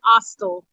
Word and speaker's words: AOSTL: Yes, it's pronounced Ostel. Okay, Ostel.